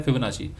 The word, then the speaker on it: Fibonacci: तो ये फिबोनाची retracement, फिबोनाची कह लीजिए या फिबोनाची कह लीजिए, बोथ आर सेम, बट असल में जो प्रोनाउंसिएशन है वो है फिबोनाची।